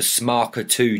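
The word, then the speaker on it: SMARCA2: a note do you want me to actually pronounce it oh my God yes I do please so it is called the smarker 2 Gene which is located on chromosome 9.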